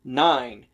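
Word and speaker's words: nein: and before ten and there is a word in german that is pronounced the exact same way nine but it has a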